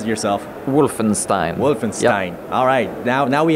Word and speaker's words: Wolfenstein: battle between Wolfenstein or Wolfenstein how do you pronounce it yourself Wolfenstein Wolfenstein alright now now we have it on